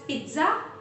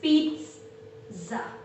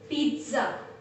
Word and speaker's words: pizza: This is not, we do not pronounce it as pizza, no, rather it has a T sound. The pronunciation is like this: pizza, pizza, pizza. There is a very subtle T sound.